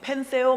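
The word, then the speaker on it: πενθέω: 여러분, 헬라어로 TH 발음에서 펜데오, 어떤 사람은 펜세오 막 이래요.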